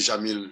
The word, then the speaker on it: Jamil: Jamil écrit J-A-M-I-L, Makala, M-A-C-C-A-L-A.